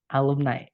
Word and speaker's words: alumni: Alumni gitu ya. Bacanya ni. Tulisannya nai, tapi bacanya ni.